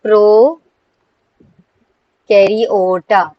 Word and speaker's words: Prokaryota: Actually we say the name of the kingdom is pronounced as pro karota.